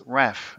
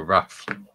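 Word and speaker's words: RAAF: see we call us Raph as in ourf is pronounced Raph not rap but we don't need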